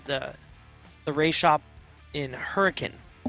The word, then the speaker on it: Hurricane: ray shop in Hurricane depends if you're from Utah or not hurricane I have been uh punched in the gut a couple times that one so yeah I was say you say it wrong when you're there they they take offense to it it's a great area